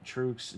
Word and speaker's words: Truex: think's gonna win versus C Bell versus M Truex Jr. Trucks, is it Trucks?